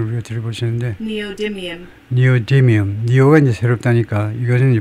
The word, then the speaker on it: neodymium: 그러면 발음을 우리가 들어보시는데 니오디뮴 니오가 이제 새롭다니까 이것은 이제 부수적이고 디뮴이 이제 프라이머리 여기 디뮴 D의 액센트가 있겠죠. 니오디뮴 우리말로 네오디뮴 하여튼 자재 이름이다 이제